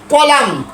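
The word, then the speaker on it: column: এল ইউ এম এল ইউ এন এন এন কলাম কলাম মূলত কলামুন হওয়ার কথা ছিল কলামুন না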